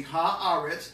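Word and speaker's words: הארץ: for earth in hebrew you say ha you put the hay in front of it and then you say all right so that would be ha ahrets that's earth but then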